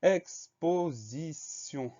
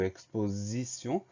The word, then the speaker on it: exposition: Ensuite, on va avoir le son Z de exposition. Le son Z s'écrit avec un S comme il est entouré de deux voyelles. Le S se prononce Z.